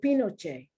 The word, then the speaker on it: Pinochet: Even the word Pinochet is spelled P-I-N-C-O, P-I-N-O-Ch, C-H-E-T, Pinochet. The last E is A.